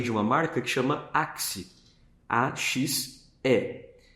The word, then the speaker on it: Axe: uma marca que chama Axe, A-X-E, porque é uma pronúncia difícil aqui para o Brasil, né, no português. As pessoas podem ler axé. O X ele tem outra sonoridade dentro da nossa língua.